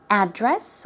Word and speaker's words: address: the building, or the address of a building, okay, or of somebody's home, 주소, it's used in the noun form and is often pronounced two ways. Address or address.